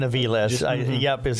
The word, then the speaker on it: Aviles: Jason Aviles, is how they pronounce it.